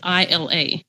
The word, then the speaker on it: Ila: put it like that because people pronounce it illa it's ila and so i put the the with the long vowel sound symbol over it okay isla yes i